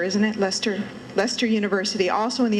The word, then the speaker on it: Leicester: trying to get a ride at Leicester it's pronounced Lester isn't it Lester Leicester University also in the United Kingdom so